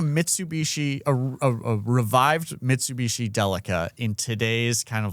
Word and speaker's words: Delica: That's I think it's delica with a hard C.